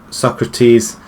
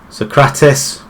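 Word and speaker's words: Sokratis: the cross in bat pose Socrates Oz socratis whichever way you like to pronounce it now torero once again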